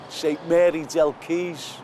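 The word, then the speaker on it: St Mary del Quay: a small Chapel called St Mary Del keys but it spelled with the Q Keys as in water because the keys in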